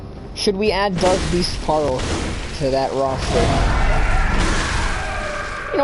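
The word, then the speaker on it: Paarl: just going to say pearl it's not spelled Pearl it's spelled with two A's so it really should be pronounced parl but I'm just going to say pearl because that's clearly the intended name damn how it's spoked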